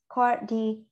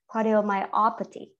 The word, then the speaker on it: Cardiomyopathy: Cardiomyopathy.